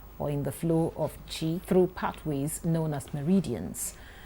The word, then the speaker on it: Qi: to stimulate energy flow, known as the QI, which is pronounced Qi.